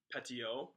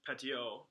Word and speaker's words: Petiot: Fernand Petiot. I'm going to guess that T is silent at the end. So Fernand Petiot in 1921 is believed to have invented the original Bloody Mary in Paris.